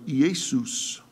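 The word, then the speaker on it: Ἰησοῦς: Now, you see in verse 11 the name of Jesus, and the Greek word is pronounced in this way, Iesus.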